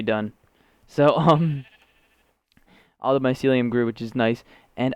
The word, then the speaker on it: mycelium: think that all the medicum or mycelium mycelium I was saying it wrong last episode all the mycelium is grown which is